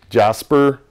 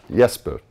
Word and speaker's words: Jesper: So it's Jesper? Yeah, not Jasper, Jesper.